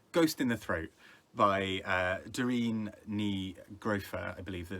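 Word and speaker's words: Doireann Ní Ghríofa: book of how to how she says it uh which is dear and negraefer um and uh i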